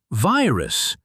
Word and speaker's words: virus: In virus, the first part vi is open because it ends with a vowel I. So we say vi, not v.